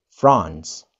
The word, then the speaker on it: France: But how to pronounce it correctly? We may say France. France. France. Jadi mulutnya agak mangap ya. France. Oke. Okay. Dan ada kata-kata s di belakangnya. France, suaranya seperti itu.